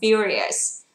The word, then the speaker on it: furious: Rồi, từ này chúng ta đọc là furious.